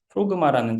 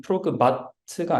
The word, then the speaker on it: Progmat: 그래서 발음은 프로그마트가 아니고 프로그마 T가 묵음이라고 합니다.